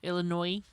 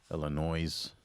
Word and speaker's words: Illinois: Illinois. Illinois's. We don't pronounce the S.